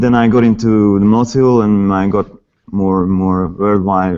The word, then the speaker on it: Mnozil: Well, originally should be Mnozil, Mnozil, yeah. as a Czech name, family name, but they moved like long time ago to Vienna, and then actually like the Z is pronounced Z in German, so it's just become Mnozil.